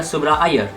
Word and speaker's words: Subrah Iyer: Ventures and WebEx founder Subrah Iyer. Yes, that's the Indian pronunciation of his name.